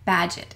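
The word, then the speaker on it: Bagehot: quote tonight is by Walter badget it rhymes with Gadget so if you want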